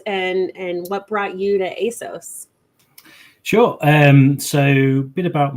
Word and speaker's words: ASOS: You said is it ASOS? Am I saying it wrong? ASOS, yes. ASOS.